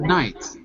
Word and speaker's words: night: GH used to be pronounced nicht, like in German.